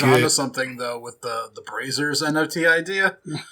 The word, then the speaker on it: Brazzers: Yeah, It's pronounced Brazers. I always said Brazzers.